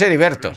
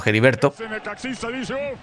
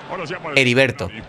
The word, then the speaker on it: Heriberto: Es Heriberto. Vale. Es que. Con algunos lo que es la H se pronuncia como así, como sería en un principio, como estaba diciendo Geriberto, o como en los Simpsons, ¿vale?